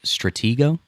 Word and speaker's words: Stratego: Diane says a game of Stratego. It's a board game. Did I say it right? Yes. Stratego?